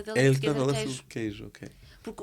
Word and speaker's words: queijo: Eu disse, queijo. E ele, queixo? Eu, não, é queijo.